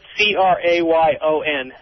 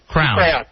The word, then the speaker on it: crayon: how about the word c-r-a-y-o-n i've always done this from again i call that a crown right crown yeah what do you call fez crown and not a crayon oh i thought that's